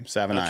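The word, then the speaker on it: Savaiinaea: I finally found out how to pronounce his name. Savanaia.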